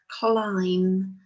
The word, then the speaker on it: climb: it's just here um that bird is silent but it's really important that we remember it in the words that that use it in their spellings like climbing so the